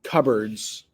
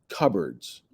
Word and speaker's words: cupboards: bathroom cupboards notice that's cupboards cupboards that's what we say but i don't know if you've ever seen that word it actually looks like cup boards but we pronounce it cupboards cupboards for a hair dryer